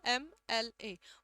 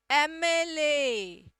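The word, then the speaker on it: MLA: एमएलए शब्द का उच्चारण देखना, एम एल ए, म तक पहुंचने से पहले आपको ए बोलना पड़ता है। एमएलए, एमएलए, एमएलए, ठीक है।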